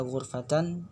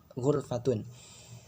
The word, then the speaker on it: ghurfah: Yang dimaksud di sini adalah pengucapan atau membaca ghurfatan bisa dengan wa dhammi, dengan dhammah, yaitu ghurfatun.